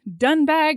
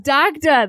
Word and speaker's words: Dagda: Like they're always saying like by Dunbag, or I don't remember what it actually is. By Dagda. Dagda, that's what it is.